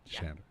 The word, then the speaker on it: Shander: Did I pronounce that right? Shander? Shander.